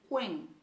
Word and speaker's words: quem: E o quem a gente pronuncia quen, né?